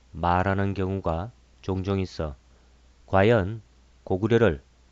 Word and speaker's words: 고구려: 안녕하십니까 오늘은 고구려를 고구리 불러야 한다는 일부의 주장에 따라 이곳 채널에서도 댓글로 그처럼 부르라고 말하는 경우가 종종 있어 과연 고구려를 고구리 불러야 옳은 것인지를 살펴보겠습니다 먼저 기록을 읽어 보겠습니다